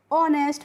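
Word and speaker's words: honest: ऑनेस्ट पढ़ते हैं क्योंकि यहां पे जो एच होती है वो क्या होती है?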